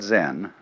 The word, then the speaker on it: Zen: So then, this word Zen is Japanese way of pronouncing the Chinese word Chan, which in turn is the Chinese way of pronouncing the Sanskrit word jhana.